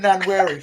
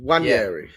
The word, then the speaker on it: Nwaneri: Yanweri. No, Wan with a W. Oh, Jack. Ranieri. Wanyeri. Like Ranieri, but Yeah, with a W. like Ranieri.